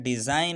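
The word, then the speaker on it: design: से पहले जी आया है इसलिए जी को साइलेंट रखा है। डिज़ाइन है, यहाँ फिर इसी तरह जी N से पहले आया है।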